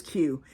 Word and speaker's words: Cue: Duh, and my name is Q. And in fact, it's spelled C-U-E for Q, as in a pool cue, but I'm naming it the Q module, which would be Q-U-E.